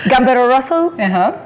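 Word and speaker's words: Gambero Rosso: most let's talk about the event it's called gamb Roso how am I supposed to pronounce it you pronounced it perfectly so gamb Roso top Italian wine Road Show okay and this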